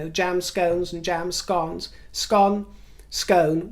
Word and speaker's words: Scone: speaking about scone versus scone, jam scones and jam scones. Scone, scone. Well, now there's a third pronunciation of it, which is Scone, which is, of course, Scottish.